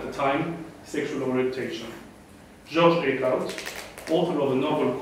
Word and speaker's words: Eekhoud: Is this how you pronounce it? Eekhoud. It's a Flemish name.